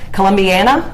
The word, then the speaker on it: Columbiana: So you represent the 33rd Senate District, which encompasses Columbiana, is that how you pronounce that?